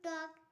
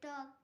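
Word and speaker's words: talk: যেমন টক, টি এ এল কে, টক। এখানে কে এর আগে এল আছে, তাই এল এর উচ্চারণ হয়নি।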